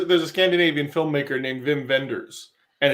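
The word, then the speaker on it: Wim Wenders: it's wim or or is that the w pronounced like a v like the sony wago tvs were yeah exactly well i know there's um there's there's a scandinavian filmmaker named vim venders and it's spelled whimwenders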